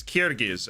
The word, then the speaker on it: Kyrgyz: How does one pronounce Kyrgyz? It's Kyrgyz, actually.